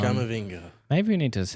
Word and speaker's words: Camavinga: Yep, And Cavaminga. that's the one. Camavinga.